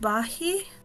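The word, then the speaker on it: Bahiyyih: uh shooting Kai from txt his sister called bahi that's how you pronounce her name it's not um but yeah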